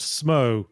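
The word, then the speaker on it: Smough: Also, Smo is pronounced Smo as a pun on sumo.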